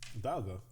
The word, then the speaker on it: Dialga: Dialga. It's D. Dialga? Technically Dialga. Dialga? This one is less egregious. Okay, so Dialga, D-I-L-I-A? It's pronounced, it's spelled die, but it's pronounced D.